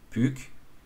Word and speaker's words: Puck: de gauche à droite est prononcée à la française puck qui fait moins de